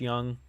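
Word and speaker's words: Jung: for the Rangers has been good uh Josh Young right that's how you pronounce it I don't know why it's not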